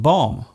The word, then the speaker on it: bomb: For example, the B in comb, womb and bomb. There is only one letter change between these words, yet they are pronounced differently.